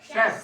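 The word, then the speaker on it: chef: ठीक है safe safe याद रखो टी एच ई एफ है स्पेलिंग स्पेलिंग चेफ ना बोलना इसको क्या है ये शफ सेफ शफ ठीक डे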